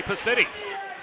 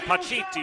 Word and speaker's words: Pacitti: And this puck is taken away by Johnny Pacitti. We went with the Italian pronunciation Paciti earlier in the season. But he has opted to anglicize it, so we will follow his lead.